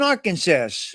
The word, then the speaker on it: Arkansas: You saw ass in Arkansas.